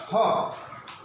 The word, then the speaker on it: hop: Hop. The pronunciation is hop. That means O. In this word, O is being pronounced hop. That means straight, not narrowly, but in this word, O is pronounced hope. That means our lips and our mouth is being narrow and should be slight narrow.